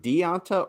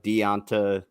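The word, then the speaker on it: D'Onta: I don't think it's is it deonta or danta danta Foreman that's how you pronounce it before man what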